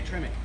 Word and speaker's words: Tremec: Is it Tremec? Yeah, Tremec.